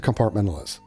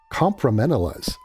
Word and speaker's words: compartmentalize: This is not even close to compartmentalize. She's ghosting the T. and the R and the A are inverted. So she might be dyslexic. Compromentalize.